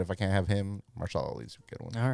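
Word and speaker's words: Mahershala Ali: Marshala Ali. That's how you pronounce his name.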